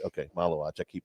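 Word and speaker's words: Maluach: It's uh Kan uh help me Maluch. I'm keep saying it. Big guy for Duke. Yeah. Uh the Sudan as a as a possible it's uh Maluatch. Maluatch. Okay. Maluatch.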